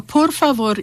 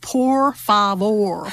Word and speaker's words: por favor: to learn is that every single letter is pronounced and it's pronounced the same every time so unlike English where